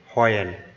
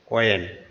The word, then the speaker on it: when: এই শব্দটাকে আমরা উচ্চারণ করতাম আগে হয়েন, কিন্তু এটার সঠিক প্রনাউন্স মানে সঠিক উচ্চারণটা হবে অয়েন।